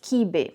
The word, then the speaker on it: quibe: And the name in Portuguese, at least as we pronounce in Portuguese, is quibe.